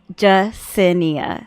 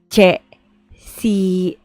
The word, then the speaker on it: Jacinia: So ฉันชื่อ, and then my name is Jacinia. So Thai pronunciation of Jacinia is Jesinia, because there's an ia sound in Thai.